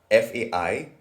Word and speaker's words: faisons: because it is spelled FAISONS. But adding this directly to the stem FAI would create something unpronounceable. So to fix this, an S is inserted in the middle, making the form faisons.